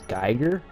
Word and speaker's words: Giger: is the pronunciation of Giger's name. I'm pretty sure it is Giger, again, based on the special features. That's how most of the people who've actually worked with him pronounce his name.